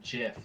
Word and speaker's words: GIF: as the gif yeah insists that it is pronounced jiff like the peanut butter um so fern's bit